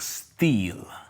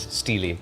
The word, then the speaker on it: Steele: none other than Alec Steel. Actually, everybody's been pronouncing it wrong all these years. It is Steely, Alec Steely.